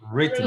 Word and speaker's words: written: chapter one somebody has written a book a book a book has been good good when you pronounce this word you do not pronounce the w you only say written read and read written